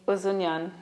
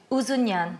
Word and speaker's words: Ouzonian: pronounce your beautiful second name for me. Ouzonian. Ouzonian.